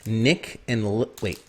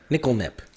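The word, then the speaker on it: Nik-L-Nip: one's called, I'm going to make sure I pronounce it correctly, niklnip. Niklnip.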